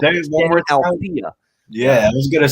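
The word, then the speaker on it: Deni Avdija: Danny Althea for the Washington Wizards. That's how you pronounce it.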